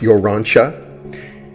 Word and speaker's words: Urantia: a name for Earth it's pronounced you're Ron Chuck and it's not like